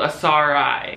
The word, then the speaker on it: Asarai: sorry-ass RI ass RI the brand is called ass RI I'll spell it out for you on screen in case you're not getting it a sa RA I don't say it wrong just read that and be right sorry I'm sorry if